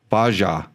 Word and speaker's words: Bajaj: Baja.